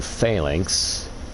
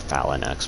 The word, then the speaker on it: Phalanx: the first Archstone which is boletaria up to phalanx and then uh I I always pronounce it falinux because I play Final Fantasy 11 and that's how my dad pronounced it and he played Volks 11.